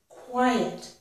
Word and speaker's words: quiet: This is a two-syllable word. Quiet. The first syllable ends in the I vowel sound, which of course has a little bit of a y. I'm circling the y, but it's a y sound. Quai. And the next syllable begins with a vowel sound e. So when I put these closely together, quiet, quiet, quiet.